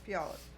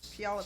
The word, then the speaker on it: Puyallup: that city in Washington that is hard to pronounce Puyallup yeah Puyallup Fair scones yep oh it's a recipe oh